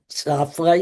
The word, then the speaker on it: Zafra: My name is Safrey. You spell it Z A F R A.